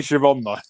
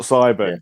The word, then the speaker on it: Siobhan: i'm using fanatics um it's definitely shivan it's sabin it's not cyber it's siobhan um in